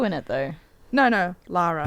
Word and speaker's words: Lara: So I entitled this this review of Shadow of the Tomb Raider DLC, The Nightmare, called Laura's Sweet Ass. Did you just say Laura? Lara. It's Lara.